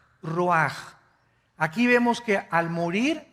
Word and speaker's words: ruach: Qué cosa el ruaj que se escribe r u a c h ruach en el hebreo y se pronuncia igual ruaj Aquí vemos que al